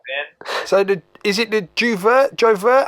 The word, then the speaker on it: J'ouvert: So is it the Jovert? How do you pronounce the name of the new EP? Oh, the new EP is gonna be called Juve, right?